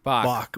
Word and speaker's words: Bach: Where like, in Spy Who Loved Me, when Barbara Bach, is it Bach or Batch? I don't know how to pronounce it. Bach.